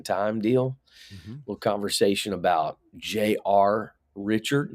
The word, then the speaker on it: Richard: deal little conversation about Jr Richard no s on the end of his name J.R Richard I just